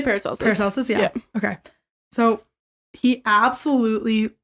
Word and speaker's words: Paracelsus: but do you say paracelsis or how do you say I say paracelsus yeah okay so he